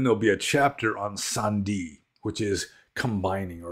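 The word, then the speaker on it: sandhi: process of combining words in poly is called Sandi which which is spelled s a n DHI and if you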